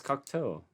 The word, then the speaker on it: Cocteau: pronounce that? That's Cocteau.